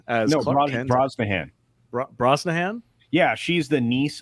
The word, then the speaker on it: Brosnahan: Rachel Brosnan as Clark Kent. Brosnahan.